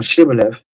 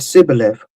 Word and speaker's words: Shibboleth: Then they said unto him, "Say now Shibboleth." And he said Sibboleth for he could not frame to pronounce it right.